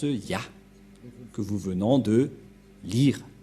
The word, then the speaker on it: Yah: Cette forme se prononce Ya. Voilà ce que nous avons vu tout à l'heure. Cette forme se prononce Ya, que vous venons de lire.